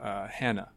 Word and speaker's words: Hana: flexible office based platform called Hannah or Hannah I'm not sure how people say it but how is it pronounced Hana I believe it's called Hana it's it's coming out